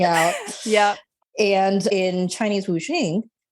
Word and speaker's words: wuxing: I know that you are from South Korea, or your family is, but this is the Chinese concept of wuxing. Is that correct? That's correct. And of course, every East Asian country pronounces wuxing their own way.